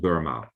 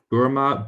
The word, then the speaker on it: Burma: Now, when the British colonial people heard the word Burma with the schwa here, it's like a weak syllable, a short syllable.